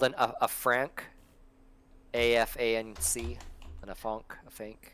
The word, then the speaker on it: afanc: With your mono, it's called a franc, AFANC, a fanc. Spell that again.